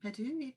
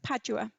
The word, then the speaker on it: Padua: um nicole asks about the botanical garden in perdue usually i don't know if i'm pronouncing that what's that padua yes yes how was it arranged at that